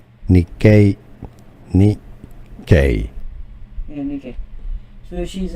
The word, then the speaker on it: Nikkei: If you want to learn more confusing names for the name of an index, Japanese pronunciation Nikkei.